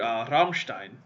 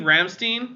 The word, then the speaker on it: Rammstein: like at one point I said the word Rammstein and so I was like do you mean Rammstein I was like no I don't because that's not how it's pronounced like it is if you're an American and I'm like well